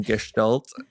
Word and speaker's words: Gestalt: I mean, there's a few different ways to pronounce it, but I go with the German Gestalt.